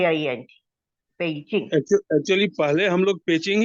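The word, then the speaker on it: Beijing: spelling उसकी ऐसी है जबकि चाइनीज में वो बी को प कहते हैं तो बी ई आई जे आई N paging actually पहले हम लोग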